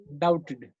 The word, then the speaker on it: doubted: डाउटेड, इफ आई डाउटेड, इसमें देखिए DOU, इसमें जो बी है, जो बी आया है के अंदर DOU बी, तो जो बी है वो साइलेंट है, ठीक है।